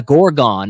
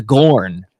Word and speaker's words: Gorn: know that right it you keep calling it a gorgon and it's the Gorn the corn okay you're saying it wrong so maybe you looked